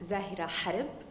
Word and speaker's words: Zahera Harb: name is zahir ahar in arabic it's pronounced zahira harib and i'm a senior